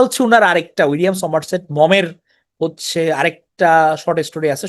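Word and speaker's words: Maugham: মজার উইলিয়াম সোমারসেট মম এটা মেঘাম বা মম এভাবে বলে এটা হচ্ছে গিয়ে উইলিয়াম সোমারসেট মম উচ্চারণ হবে তো এই মমের এর বিখ্যাত কাহিনী হচ্ছে দা লাঞ্চন।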